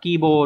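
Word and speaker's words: 希望: chữ hi và chữ vọng từ này phải đọc là à kibo đúng không Chứ không phải là C nhá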